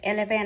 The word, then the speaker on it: eleven: Chúng ta nhìn cách đọc nhá, đây có e, âm y ngắn này. E l e l. V với n sẽ đọc cái âm n thành âm n, v với n sẽ là vần. Nhấn vào âm le này.